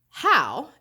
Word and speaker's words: Howe: so let's read it how is pronounced how as in how did this guy become the commander all right how is